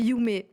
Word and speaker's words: Yume: Donc c'est pas Yumi, c'est Yumée.